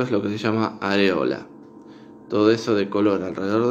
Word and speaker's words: areola: Y la palabra que está a la derecha de ese par es la palabra areola, areola, o también se puede pronunciar como areola, areola.